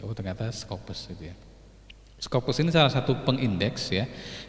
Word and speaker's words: Scopus: Ini sama, ini bacanya yang betul Scopus sebetulnya ternyata gitu ya.